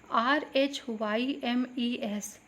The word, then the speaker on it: rhymes: RHYMES, not rhymes, rhymes नहीं पढ़ना आपको, you have to read it rhymes. RHYMES, H will be silent and it should be rhymes.